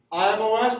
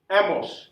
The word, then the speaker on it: emos: So you said emos, which in my Spanish brain sounded like IMOS, but we don't need to add IMOS. It's emos, E-M-O-S, right?